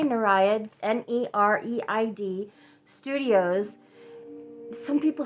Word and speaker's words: Nereid: Okay, so here is the symbol, the Nereid Studios logo on the front. And how do you say that word, by the way? I say Nereid, N-E-R-E-I-D, Studios.